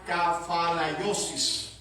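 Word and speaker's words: ἀνακεφαλαίωσις: Es una voz griega larga y rara, parecida a anakafalaiosis. Más o menos los griegos pronuncian así.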